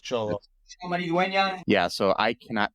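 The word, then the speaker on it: Xolo: again okay cholo yeah because x o l o but cholo is pronounced cholo yeah so I cannot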